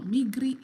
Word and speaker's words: Migri: Fe now migri is pronounced is spelled the way I'm pronouncing it notice that I drag the r the R so m